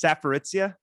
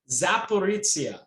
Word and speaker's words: Zaporizhzhia: I'm doing my best job with it, but it's Zaporizhzhia. Zaporizhzhia.